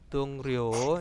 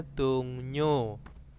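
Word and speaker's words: 동료: Dungryo itu dibacanya dungnyo.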